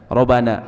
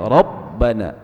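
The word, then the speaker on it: ربنا: Nah, ini rabbi juga banyak orang Indonesia banyak melakukan kesalahan, dibacanya robbi, atau kayak robbana, orang banyak baca robana, harusnya robbana. Ada tasydid, karena ini sama dengan menghilangkan satu huruf.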